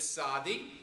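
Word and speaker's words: צדי: another at the conclusion sadi it's pronounced like sitsit sit that's the perfect word saudi as you will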